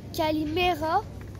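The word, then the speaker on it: Καλημέρα: cours de grec alors en grec bonjour se prononce Calimera bonsoir en grec ça se dit kalalispera bonne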